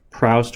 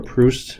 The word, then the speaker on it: Proust: credited with it is Joseph proust or proust I believe it can be pronounced either way people ask a lot